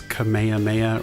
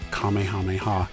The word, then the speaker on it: Kamehameha: differently over the years some have pronounced it as Kamehameha or Kamehameha and others have said Kamehameha apparently that is the more correct way to say it I'm sure I'm gonna